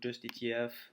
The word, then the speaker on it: Just ETF: Donc Just ETF, bon on va le on va le prononcer à la française, hein, donc Just ETF.